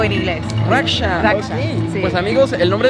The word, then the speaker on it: Raksha: que te digan cómo cómo cómo cómo se pronuncia tu nombre raka significa proteger en español Oh Okay o en inglés raksha Okay pues amigos el nombre de mi amiga